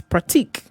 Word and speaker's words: pratique: It's practice in French, but it's pratique.